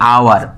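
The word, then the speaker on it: hour: Silent कर देते हैं, एच को साइलेंट कर देते हैं, और उसके बाद की जो वावेल है उसकी आवाज़ में हम बोलते हैं। जैसे कि आवर, मतलब कि ओ के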